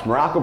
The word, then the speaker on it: Maroko: I am Coach Maroko, pronounced just like the country. You just heard me say it, but spelled absolutely nothing like it.